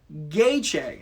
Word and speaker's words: Gaethje: Gaethje is how you pronounce it. Thank you. Gaethje. Oh, yeah, I can see that with the TJE.